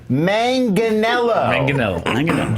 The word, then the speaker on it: Manganiello: Joe Manganiello. Joe Manganiello. They were doing it a hyphenated Joe Manganiello. They were doing Joe Manganiello. Not how it's pronounced.